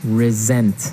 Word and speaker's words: resent: said I resent that resent resent okay now this is spelled exactly like resent like with an S right re s E and T but you pronounce it like a Z resent resent that so